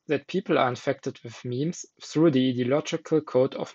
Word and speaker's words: meme: to pronounce the term meme. Suggestions range from meme to meme and meme, whereas Dawkins provides clear instruction in his definition. It should be pronounced to rhyme with cream.